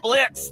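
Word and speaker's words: Blitzø: Uh Blitz? The O is silent.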